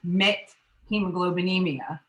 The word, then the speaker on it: methemoglobinemia: I'm a medical technologist, and I'm sure that the condition that some of you are having trouble with how to pronounce it is called methemoglobinemia.